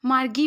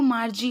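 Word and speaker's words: Margie: और हाँ, मार्जी की प्रोनाउंसिएशन में कंफ्यूज मत होइएगा, बहुत सारे बच्चे मार्गी पढ़ते हैं। इट्स नॉट मार्गी, आपको मार्जी ही बोलना है उसको।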